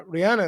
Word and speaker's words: Rihanna: It's Rihanna, not Ri. Yeah, Rian. Yes, Rian.